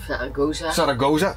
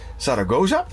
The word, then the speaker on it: Zaragoza: So now we are in, er, Zaragoza or Zaragosa, I'm saying it wrong here, Zaragoza and, er, it's seven degrees here, it's still raining.